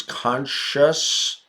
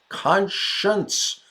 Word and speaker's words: conscience: conscious oh right away Marla says conscience if that n Sound in there right Marla yeah here it is Khan science conscience not not pronounced Khan science I just break it into those two parts to remember it better conscience stealing the Pitchfork